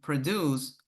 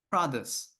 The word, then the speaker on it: produce: Well, let me tell you something. They're different. The first word is the farm was cultivated to produce produce. So the difference is the stress.